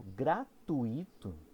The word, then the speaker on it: gratuito: pegar viu tipo gratuito a gente tá deslocando a sílaba tônica como assim o enunciado comum a pronúncia entre aspas né que deveria ser associada a origem do termo é gratuito certo é que nem fortuito que nem circuito questão então são expressões que